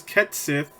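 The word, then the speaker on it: Cait Sith: apparently slightly more Western Kate's it seems to be pronounced as ket sip which that was a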